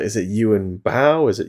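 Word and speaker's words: Yuen Biao: like is it you and bow is it you and biao and I've I've now know it's it's pretty much at least this is a much more accurate um pronunciation it's you and you so that was just like oh thank you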